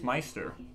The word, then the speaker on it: maester: Because a maester is a priest. Are you talking about the word maester? Yes. Oh, dude, it's Meister.